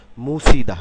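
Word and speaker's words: 묻히다: উচ্চারণটা হবে সি গাছি একইভাবে মুথি আলাদাভাবে বলে মুত ইদা কিন্তু যখন শব্দে আমরা উচ্চারণ করবো তখন হবে মুছিদা মুছিদা এই থিয়ত থিয়ত এবং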